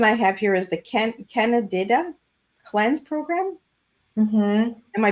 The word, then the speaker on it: Candida: And then the next one I have here is the Candida Cleanse Program. Mm-hmm. Am I pronouncing that right? Yeah, Candida. Candida.